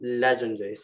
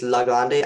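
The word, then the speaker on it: Legendre: each prime and let's use this thing called legendaries i think i pronounced wrong but there's this formula called legendaries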